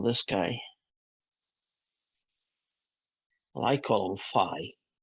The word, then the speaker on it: phi: guy well I column Phi sounds a bit like f i Phi although sometimes I call